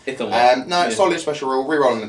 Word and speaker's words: Ithilmar: As a James says that Elithmar. Elithmar, is it Elithmar? Just gets it completely. I was trying to remember how he pronounced it. No, it is a Thilmar. Ithilmar.